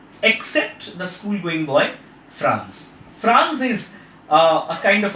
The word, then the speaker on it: Franz: named Franz if RA in Z it's not pronounced at France its France and a teacher who is serving his school